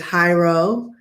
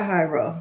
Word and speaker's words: Hyro: So her name is Hyro, which is Hiero, like hieroglyphics, like the first syllable.